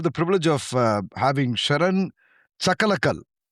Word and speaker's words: Chakalakal: Chakalakal, is that that's the right way to say it, right? Chakalakal. Think about boom shakalaka.